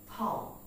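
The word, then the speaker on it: thumb: next word word is টি এইচ ইউ এম বি আমরা এটাকে বলি থাম বৃদ্ধাঙ্গ কিন্তু এর উচ্চারণ হবে থাম থাম থাম বি is totally silent that means the pronunciation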